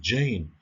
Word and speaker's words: Jane: شوفوا هذيك الجي ماشي بحال في العربية، هي راه كاينة عندنا اللي كيحفظ القرآن الكريم غادي يعرف بأن هذيك ج يعني بحال كاينة واحد الد، ولكن ما كنشوفوهاش ولكن كنطقوها Jane.